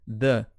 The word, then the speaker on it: the: Se começar com som de vogal a próxima palavra, ele vira D. Então, in the evening. In the evening. Agora, se fosse, por exemplo, uma palavra que começa com consoante, aí vira the.